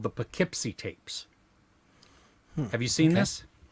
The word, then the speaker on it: Poughkeepsie: It's called the Poughkeepsie Tapes.